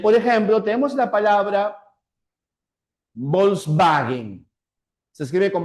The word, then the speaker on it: Volkswagen: Bien, por ejemplo, tenemos la palabra Volkswagen. Se escribe con W, pero no decimos wagen, sino wagen.